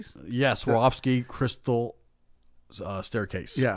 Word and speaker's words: Swarovski: Sorskis. Yeah. Swarovski crystal staircase.